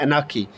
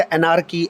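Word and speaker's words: anarchy: यह व वर्ड को जब आप रियल प्रोनंसिएशन इसकी करते हैं तो ये वर्ड होता है अनाकी अनाकी अनाकी आप इसे पढ़ रहे होते हैं यानी आर यहां पर साइलेंट होता है बट रूटीन में हम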